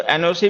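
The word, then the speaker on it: NOC: फिर जैसे हमने लिखा एनओसी। तो एनओसी में हम हर एक लेटर को ना इंडिपेंडेंटली प्रोनाउंस करते हैं। मतलब हर एक लेटर का अपना इंडिपेंडेंट प्रोनंसिएशन है।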